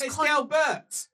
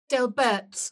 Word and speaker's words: Delbert: he does no work he has delber Delbert you said it wrong he has contracted out